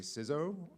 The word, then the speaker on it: CISO: I am a CISO. You say it like Lizzo, but obviously I'm not Lizzo.